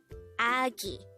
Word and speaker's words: 아기: hangout word number 167 this is pronounced as a two-syllable word the first syllable is a second syllable is ghee pronounce it with me agi the word aggi is